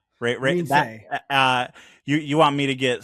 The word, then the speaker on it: Reinsve: Reinsve. Reinsve.